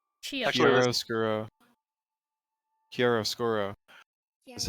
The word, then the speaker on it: chiaroscuro: so Chiaroscuro is actually a word that already existed.